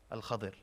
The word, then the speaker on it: Al-Khadir: Khizr is the way we pronounce it, but the correct pronunciation is what? Al-Khadir.